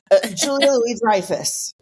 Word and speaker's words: Julia Louis-Dreyfus: So it's Julia Louis-Dreyfus.